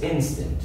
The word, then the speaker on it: instant: Yes, instant. Instant. Yes, so not instant, instant. Yes. The stress, the accent is on in.